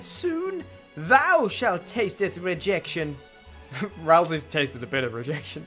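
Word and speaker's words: Rouxls: Rousey's tasted a bit of rejection today. First handeth in the form of various bullets. Used this song before too. It's pronounced rules is the title.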